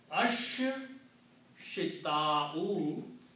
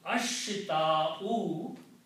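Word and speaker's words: الشتاء: It has its sound gets killed by sheen and swad. So, ashita'u and as-saifu.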